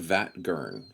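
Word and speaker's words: Vatt'ghern: You call it Vatt'gern. Vatt'gern. Okay, I'll call it that.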